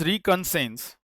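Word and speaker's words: reconnaissance: ए एन सी ई तो इसको आप प्रोनाउंस ऐसे कर सकते हैं रिकसेंस। तो रिकंसेंस बोलते हैं इसको हम लोग। ठीक है? यहां पर एआई थोड़ा साइलेंट हो जाता है।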